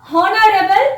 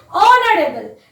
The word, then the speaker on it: honorable: So it is not honorable. Pronunciation is honorable. It sounds like vowel.